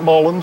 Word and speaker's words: mullein: Some pronounce it mullein, some pronounce it mullein. I think the correct pronunciation is mullein.